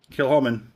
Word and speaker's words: Kilchoman: C is silent. Kilchoman single Islay malt Scotch whisky.